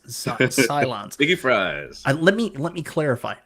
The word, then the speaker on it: Cylons: Galactica guy with the Xylons. Xylons. Oh, Cylons. I gotta say it correctly, or everybody else will eviscerate me in the comments because I forgot that it's Xylons and Cylons instead of Xylons.